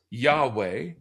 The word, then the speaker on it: Yahweh: And the 4 Hebrew consonants get pronounced Yahweh, but we don't really know how they were initially pronounced.